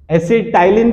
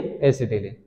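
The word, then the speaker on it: acetylene: इसका common name, common name है एसिटिलीन, क्या है, एसिटिलीन, एसिटाइलीन भी बोलते हैं, जन सही प्रोनाउंसिएशन है इसका, एसिटिलीन, ठीक, वेल्डिंग पर्पस यूज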